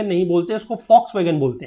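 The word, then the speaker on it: Volkswagen: कि वी बॉक्स में जो नहीं बोलते इसको फॉक्सवैगन बोलते हैं तो इस तरीके से यह जो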